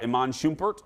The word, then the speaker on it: Iman Shumpert: sorry leo peloton cody and cheryl and uh iman shumpert am i pronouncing that right yeah and daniela but in